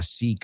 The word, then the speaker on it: seek: Vimos la palabra seek antes, ¿no? En vez de sick, que no se pronuncia igual, right?